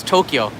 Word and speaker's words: Tokyo: know how to pronounce tokyo tokyo is two syllables to all right then